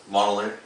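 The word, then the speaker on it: Mjölnir: There's a few different pronunciations depending on how researched you are with the weapon. That one's kind of a middle ground acceptance to where people recognize, like, oh, you're talking about the hammer.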